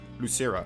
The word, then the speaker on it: Losira: the uh the real ultimates of la uh losira wait what one i forgot how to pronounce his name osara lucero there we go he's gonna out of the